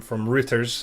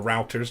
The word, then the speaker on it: Reuters: So the big headline this week, which I've sourced from Reuters, or Routers, depending on how you want to pronounce it, was that the FCC chief plans to ditch the US net neutrality rules.